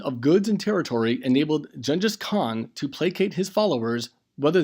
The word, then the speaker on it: Genghis Khan: After the unification of several nomadic tribes under Temujin, who was called Genghis Khan, sometimes pronounced Chinggis Khan, meaning universal ruler.